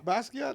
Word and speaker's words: Basquiat: Basquiat. That's how you pronounce it.